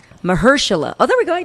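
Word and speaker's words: Mahershala: anyway um Boer was notot juice I can't pronounce his name right and I feel bad it's Mersa oh there we go I did it you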